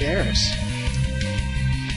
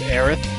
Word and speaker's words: Aeris: She's wearing something just like Aeris. And for those of you who say it's Aerith, because that's how they say it in Japan, I don't care.